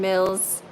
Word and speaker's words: Mills: my name is Karen Mills it rhymes with bills you know the one the dollar dollar bills okay tonight we are